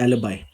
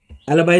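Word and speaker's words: alibi: और पहला वर्ड हमारे सामने जो आता है दैट इज एलिबाई। पहले प्रोनाउंसिएशन सीखेंगे, एलिबी नहीं बोलना है, एलिबाई बोलना है। एलिबाई इज अ नाउन और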